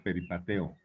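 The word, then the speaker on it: περιπατέω: 43 esta palabra es una palabra que se pronuncia peripateo o sea quería alguien que lo lanzara Pues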